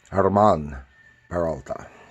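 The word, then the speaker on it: Germán Peralta: Stine, with art by, in English it would be pronounced German Peralta, but it's probably supposed to be pronounced Hermann Peralta. But just for simplicity, I'm going to pronounce it German. I know it's not right.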